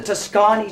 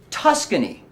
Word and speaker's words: Tuscany: preparation and you sir aha yes oh the Toscani chicken the roadkill Toscani chicken is that what you're referring to uh it's actually pronounced Tuscany chicken and I believe we have a special